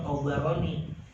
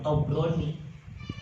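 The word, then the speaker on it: الطبراني: Makanya bacanya yang benar tobaroni bukan tobrani. Kalau tobron ya tetangga ente.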